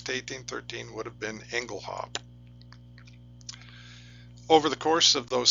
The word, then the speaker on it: Engelhaupt: pronunciation would have been Engle hop which is French linguistic fashion the t is silent in French for example the word